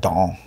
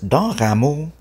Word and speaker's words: Dan Ramos: And I grew up in Montreal, so the teachers would pronounce it Don. Dan Ramos, D-I-N-R-I-M-O-S, Dan Ramos.